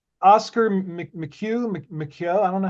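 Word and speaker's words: Micheaux: So how do you say Oscar Mchugh Mako? I don't know how to Michelle.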